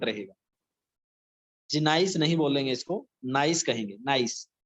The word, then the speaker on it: gneiss: Next metamorphic rock is gneiss. G is silent here. यहाँ पे जो G है वो silent रहेगा. Gneiss नहीं बोलेंगे इसको, gneiss कहेंगे.